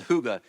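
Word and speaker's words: hygge: a sermon series called Huga h y g g e I know I'm not saying it like it's spelled but trust me it's closer I'm saying it more closely or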